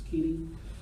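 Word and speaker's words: Koine: in three different genres originally written in the queen Keen or Co depending on how you learn to pronounce it until I took Greek and Seminary was po that now it's Keeny um originally written in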